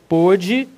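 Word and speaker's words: pôde: indica que além de a pronúncia da vogal ser fechada pode pronúncia aberta pode fechada como em ovo não é ovo né É ovo pronúncia fechada o verbo está no pretérito perfeito questão 17 ok eu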